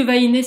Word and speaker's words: vahine: mettre un accent réponse parce que vahiné c'est du tahitien camp tahitien tous les oeufs se prononce et donc il ya pas d'accent donc je l'écris comme ça